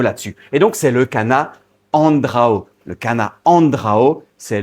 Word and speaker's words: canna: Oui, on dit Cana. Je sais bien que tout le monde les connaît sous le nom de Chana, mais la prononciation, il y en a une, elle existe, c'est Cana.